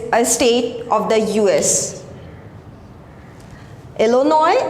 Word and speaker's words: Illinois: Illinois, it's a correct pronunciation of this word.